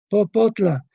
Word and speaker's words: popotla: Y aquí yo creo que hay dos, porque la palabra popotla tiene dos sílabas, popotla.